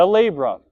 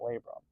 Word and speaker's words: labrum: It rhymes with mabrum. The labrum.